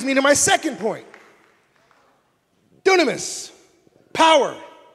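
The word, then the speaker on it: δύναμις: Dunamis, power. It's where we get the word dynamite. In the Greek, it's pronounced dunamis.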